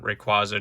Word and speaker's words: Rayquaza: And then, you know, Kyogre, Groudon, Rayquaza, Jirachi, and Celebi. Yes, that's how you pronounce all of them.